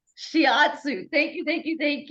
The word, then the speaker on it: shiatsu: and listened to it to say it right shiatsu shiatsu thank you thank you thank you it was